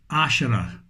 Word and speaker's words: Asherah: Asherah. And that's how you pronounce it.